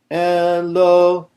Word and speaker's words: Eloheinu: This is called, this type of accent, where the accent is on the next to last syllable, rather, of the word, is called mil-el.